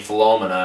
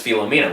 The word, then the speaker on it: Philomena: pronounce the movie now i said i was saying phelomena in my whole video but it's philomena with judy dench i was